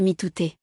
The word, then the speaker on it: mitote: Votre esprit tout entier est un brouillard que les Toltecs appellent un mitote, prononcé mitouté.